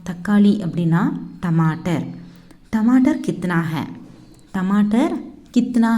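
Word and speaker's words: हाँ: இது ஹிந்தியில் ஹா அப்படி தான் ப்ரொனவுன்ஸ் பண்ணணும். ஹான் அப்படின்னு சொல்லக்கூடாது, ஹா, ஹா.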